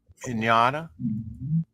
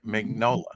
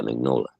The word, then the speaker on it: Mignola: Mike Mignogna. Did I say his name? Mignola. There we go. Yeah, Mignola.